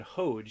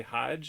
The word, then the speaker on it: Hodge: interesting that you would pronounce his name chad hodge you wouldn't say hajj is this a canadian